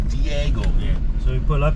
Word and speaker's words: Diego: do you say this if I'm local I'm I'm saying digle yeah some local said deole but I'm the tourist you said Deo so I'm saying dieo yeah so we pull